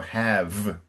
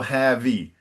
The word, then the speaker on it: have: you have to remember no pronunciation of the E. And I know that in Portuguese, it's very hard to end a word with a consonant. So have, cut. No have-y. You didn't say it like it was very, very subtle, but and so have. No E pronounced.